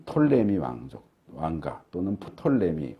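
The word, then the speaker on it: Ptolemy: 세워지고 이집트 쪽은 어 톨레미 이라고 보통 하는데 이제 영어로는 피를 먼저 이 피가 묵음 이라서 발음을 안하지만 아 그래서 나 영어 바로 뭐라 할 땐 톨레미 왕조 이렇게 하지만 가끔 법인 제부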